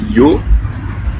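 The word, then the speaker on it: её: Alors on prend plus sérieusement, le premier c'est yo, Йо.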